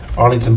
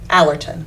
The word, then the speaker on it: Allerton: I've been contracted with helping promote Arlington Park in Monticello. And I Wait. told her, Allerton.